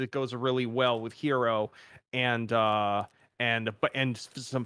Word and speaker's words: gyro: will frequently see a breakfast special called a hero breakfast spelled gyro if you've never heard someone pronounce it correctly um which is basically like